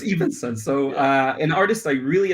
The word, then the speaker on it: Evansen: All the mispronunciation. No. So it's Evansen.